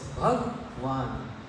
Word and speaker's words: Bhagwan: This word has 2 syllables. Bhagwan.